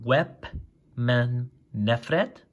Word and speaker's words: Wepemnefret: a weapon f net so WEP man net fret so web BAM net fret so that's how you say his name and this is his